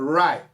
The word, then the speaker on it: high: solta então eu sou hi sem falar o gh nunca se fala já em vez de palavra né tá lá mas não se pronuncia e o que a